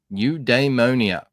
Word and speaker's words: Eudaimonia: I have the definition for you at the top and the little pronunciation thing. New Damonia from Greek philosophy.